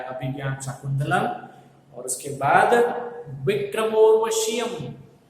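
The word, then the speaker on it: विक्रमोर्वशीयम्: शाकुंतलम, और उसके बाद विक्रमोर्वशीयम। इसको ठीक से प्रोनाउंस करना बहुत जरूरी है, हालांकि थोड़ा मुश्किल है, लेकिन विक्रमोर्वशीयम, that is हाउ we should pronounce it.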